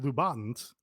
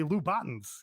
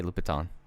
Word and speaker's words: Louboutin: that's what i'm saying americans say lubotns because they don't know french i don't know what i was talking about yeah i say louboutin all right whatever tnt